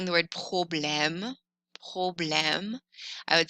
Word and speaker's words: problème: accent grave, M, E, problème. You can see this accent grave on A's, E's, or U's. On the letter E, it's pronounced eh.